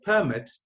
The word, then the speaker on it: permit: Then the word, we pronounce it as permit, is a set of written instruction.